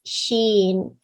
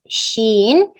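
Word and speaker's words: شين: in uh intense read when you pronounce sheen you should not circle your lips don't circle your lips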